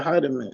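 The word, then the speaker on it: Hiedeman: that's her name oh you talking to Natasha heiderman see yeah that's how you pronounce it yeah they still do I think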